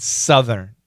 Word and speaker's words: southern: I'm always curious about how to pronounce northern and southern. Yeah, so listen carefully. Funky monkey. Northern, southern. You want to keep that R. Northern California, southern. It's a short U. Southern.